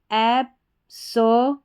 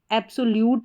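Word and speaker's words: absolute: तो पूरी स्पेलिंग क्या बन जाती है, एब्सोलूट, एब्सोलूट। एब्सोल्यूट नहीं पढ़ना है, एब्सोलूट, एब्सोलूट।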